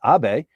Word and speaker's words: Abe: What's going on in Japan, and what happened to that guy Abe? And now at least everybody knows how to pronounce his name. It's Abe.